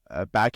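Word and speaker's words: 爸: But back in middle school, me and my friends would joke around because the pronunciation for the word father in Chinese is ba.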